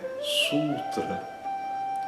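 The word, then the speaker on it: sūtra: Outro exemplo é sutra. Sultra. A obra fundamental, por exemplo, do Radio Yo yoga de Patand é o yoga sultra, né, com o Uo e o a curto.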